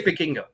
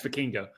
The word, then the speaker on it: Vikingo: You should say Vikingo. Yes, Vikingo.